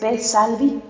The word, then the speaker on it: Spe Salvi: Así que a ver, ¿está bien pronunciado? ¿Es Pesalvi?